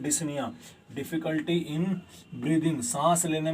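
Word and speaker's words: dyspnea: हैं, क्या बोलते हैं, डिस्निया, डिफिकल्टी इन ब्रीदिंग, सांस लेने में दिक्कत आती है, तकलीफ होती है, इसे क्या बोलते हैं, डिस्निया। अरे सर ये तो डिस्पनोइया हो गया, अरे पी साइलेंट है इसमें, ठीक है।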